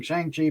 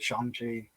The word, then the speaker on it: Shang-Chi: of the ten rings i grew up with it being shang chi but they're calling it shanxi i imagine that is absolutely correct yeah yeah we've been saying it wrong for decades but you know that's